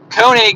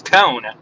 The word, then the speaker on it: Kone: And I remember, we're like, so you're from Kone, right? He said, wow, you're the first ones to pronounce the name of our company right. Most people say it's Cone.